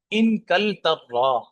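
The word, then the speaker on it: إنكلترا: وَتِلْكَ الْمِلْعَقَةُ، اور وہ چمچی، من ان کل ترا، اس کا لفظ کا ذرا تلفظ دیکھ لیں.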